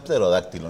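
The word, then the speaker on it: pterodáctilo: niño se había pronunciado terodáctilo Entonces ya ese tipo de palabras ha peroo con la p es muda Claro que es dificilísima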